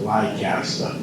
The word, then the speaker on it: Leicester: There's different ways of pronouncing it, but I've always pronounced it Leicester.